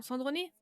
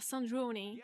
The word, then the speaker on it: Sandrone: Alors, je crois que t'as la bonne prononciation. Sandroné? Let's go. Pour une fois que j'ai un truc bien, let's go. Après, je pense, ouais, parce que si on se fie à l'anglaise, ils doivent dire Sandrone, tu vois, donc peut-être, ouais.